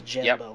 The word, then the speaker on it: Djemba: It's spelled like Django Unchained. It's Djemba, like DJ with a D. EMBA.